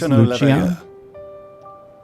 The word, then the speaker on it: Lucia: It's pronounced Lucia. Lucia, please. Respect.